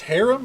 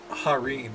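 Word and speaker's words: harem: Is it pronounced harum or is it harim? I mean they look comfy. I actually don't mind this fit on K. I'mma look it up real quick. Harim.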